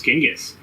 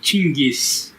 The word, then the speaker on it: Chinggis: You should see how they spell and pronounce Genghis. It's more like Chinggis.